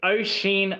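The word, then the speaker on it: Oisín: It is Oisin Mullins. Okay. All right. Does he do anything? Like Ocean, but...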